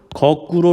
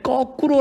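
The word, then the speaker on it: 거꾸로: 있습니다 그쵸 이런것도 있어요 뭐 거구로 라고 말해 봐야 되는데 꺼꾸로 라고 발음하는 경우가 많습니다 하지만 이 발음 들은 다 표준 발음 들이 아닙니다 까닭 없이 이유없이 된소리로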